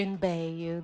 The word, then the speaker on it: Mebeyu: Sister in Bayu, the M is silent, but everybody calls me.